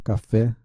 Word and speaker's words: café: Exemplo, café, a sílaba fé é tônica, recebe acento.